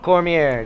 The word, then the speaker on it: Cormier: crowned King of the Cage heavyweight champion, Daniel Cormier.